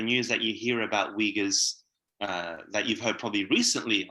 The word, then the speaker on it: Uyghurs: So the proper terminology, it's Uyghurs. So you got the Uy, and then the Ra, and the Ghurs. Like that's the Uyghur way of saying it.